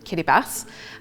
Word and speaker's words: Kiribati: In Kiraabas language, that's how you would pronounce the island's name, Kiribas.